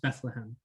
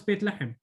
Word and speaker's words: Bethlehem: who are bethlehem natives bethlehem uh in english pronounced bethlehem just uh to clarify for those who are uh asking me what's baitlachem um okay so uh